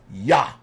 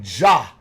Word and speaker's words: Yah: heavens by his name, Yah. Or they say Jah. But the J replaced the Y. the original pronunciation, according to the Tetragrammaton or the Yod Vahe, is Yahweh, Y-H-W-H.